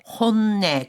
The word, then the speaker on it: 本音: この単語の発音は이 단어 발음은 少し難しいですね. 좀 어렵네요. 본심 또는 속마음이라고 할 때는 本音、 혼내.